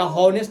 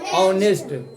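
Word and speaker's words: honest: जैसे हम बता दिए ऑनेस्ट लिखा जाता है अति, लेकिन का स्पेलिंग होता है एच से। देखा हॉनेस्ट नहीं पढ़ा जाता है, क्या पढ़ा जाता है? ऑनेस्ट।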